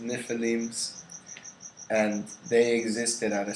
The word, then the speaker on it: Nephilim: But pretty much one of the stories from the Emerald Tablets is that there was Nephilims, that's how they're pronounced, Nephilims, and they existed at a certain point in history according to Thoth.